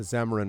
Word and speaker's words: Xamaron: And the Zamaron is spelled Xamaron, in case anyone's curious.